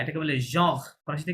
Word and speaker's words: genre: genre. ঠিক আছে? হ্যাঁ। তাহলে এটা হবে জঁর আর পর্যন্ত উচ্চারণ করতে হবে।